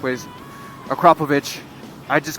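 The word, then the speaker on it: Akrapovič: pronounce it wrong all the time it cannot pronounce it the correct ways akrapovic i just call it acrobatic acro you know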